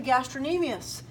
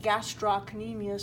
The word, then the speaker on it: gastrocnemius: the soleus here and then you have the gastrin amias some people will say gastrocnemius so they remember how to spell it so our teach every